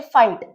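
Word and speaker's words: fight: जीएच की sound तो silent है, तो इसे हम अवॉइड करेंगे। और यहाँ है टी, टी है टी, जीएच को तो हमने अवॉइड किया है क्योंकि उसकी कोई साउंड नहीं है।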